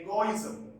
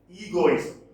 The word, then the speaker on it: egoism: our small argues against the egoism or egoism both pronunciations are acceptable in private and public